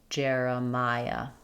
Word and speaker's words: Jeremiah: Jeremiah. Letters J E R say the air sound. J uh like in Jerry or in the word air.